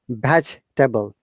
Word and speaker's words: vegetable: And also, this word vegetable is most wrongly pronounced by many of our users. It is vegetable. Veg and Veg- Vegetable. very good. Vegetable. Vegetable, because after the E, the GE, that E is schwa sound, so we don't need to pronounce.